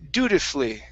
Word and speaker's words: dutifully: l l y okay where we don't pronounce this vowel this is one of those words so instead of dutifully